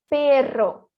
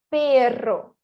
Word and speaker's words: perro: Seria perro. Igual moto, mas crianças brincando de motinho. É igual. Rrr. Seria mais ou menos assim, né? Rrr. Então, aqui, deveríamos dizer perro.